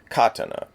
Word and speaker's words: katana: This blade is a katana. You'll hear some people stress the syllables in a more Japanese way as katana.